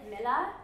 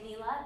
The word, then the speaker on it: Mila: You pronounce it Mila, but I say Mila because it sounds like Mila Kunis, so it's easy to say.